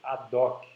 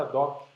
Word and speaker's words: ad hoc: Que em português, no Brasil, a gente fala muito ad hoc, né? Usa o H mudo, mas isso é latim, e como se pronuncia o latim é meio controverso, né? Porque são pronúncias reconstruídas.